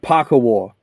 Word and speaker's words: Pakawau: I got told it's pronounced Pakawau. I'm not sure about that.